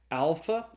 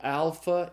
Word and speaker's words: alpha: first Greek letter is the letter alpha it's pronounced like in the a sound in the English father so alpha is as in father second letter is the